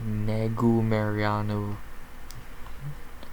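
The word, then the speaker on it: Negumereanu: We start off the card at light heavyweight, and so does City Kickboxing, as we have Carlos Black Jag Alberg versus Negu Mariano.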